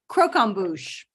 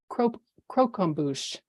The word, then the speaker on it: croquembouche: with caramelized sugar and could I hear it pronounced again croquembouche croquembouche cro e-m b o u c h e croquembouche that is correct and another dessert down back